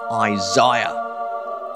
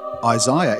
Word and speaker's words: Isaiah: be the book of isaiah wait isaiah isn't it isaiah yes our american cousins sadly mispronounce a key book of the bible the book of isaiah not the book of